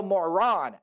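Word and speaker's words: Morán: It is Emilio Moron, accent on the A that obviously is non-screen, and Mike Purcell.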